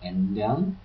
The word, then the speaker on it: ändern: So we have already told you already that the A umlaut is A, like in ändern, to change.